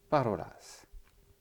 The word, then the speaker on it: parolas: parle, donc au présent, parolas. D'accord ? Il faut bien sûr un pronom personnel devant. Donc si on veut dire je, ça va être mi. Mi parolas. L'accent tonique sur le ro, ro.